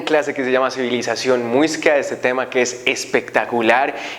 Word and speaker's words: muisca: cuando llegan los españoles, ellos no pueden pronunciar la palabra muisca, por lo que ellos comienzan a denominar mosca, mosca, mosca, hasta que ya por fin logran decir muiscas.